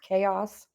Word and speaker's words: chaos: right here is pronounced chaos doesn't look like it sounds but we should know